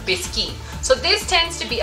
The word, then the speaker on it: biscuit: biscuit it's actually written like biscuit but it's pronounced biscuit so this tends to be okay it's very